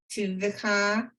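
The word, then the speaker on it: טובך: rav tuvcha This would be one syllable. Tuvcha. tuvka. Right. Thanks. You had the letters right, just the syllables.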